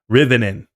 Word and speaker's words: Rivian: Yeah, he's saying it in a funny way because of the stock ticker, but I assume he knows it's pronounced Rivian. Rivian.